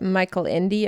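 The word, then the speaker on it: Michael Ende: the books written by Michelle Ender yeah I will I will explain so Americans would pronounce that Michael Indy I guess UMD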